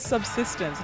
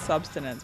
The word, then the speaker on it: Subsistence: It was subsistence, not substance.